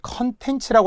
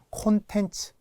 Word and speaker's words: 콘텐츠: 원래 발음이에요 렉스야 됩니다 또는 콘텐츠를 컨텐츠라고 하는 분들 되게 많아요 내용 콘텐츠 그죠 컨셉트 놀랍게 컨셉이라고 많이